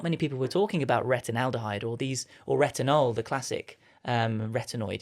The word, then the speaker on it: retinaldehyde: Because I'm going to butcher the name, but retinaldehyde, how do you say it?